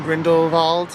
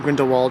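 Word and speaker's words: Grindelwald: the gondola ride from grindle va grindle va I kept saying grindle Wald all day grindle it's spelled grindle Wald but it's grindle VA um up to the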